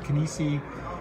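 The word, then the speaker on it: Kinisi: And you could look at our bigger site, which has our line of athletic clothing with Kinesi. That's like kinesiology.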